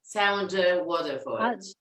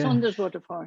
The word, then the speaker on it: Saunders Waterford: no, Sounder Waterford. Yeah. Saunders Waterford, yeah.